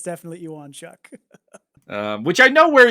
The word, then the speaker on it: Ewonchuk: was going with that there is a there's an mma fighter with a very similar spelling to your name that the pronunciation works more like that so i get where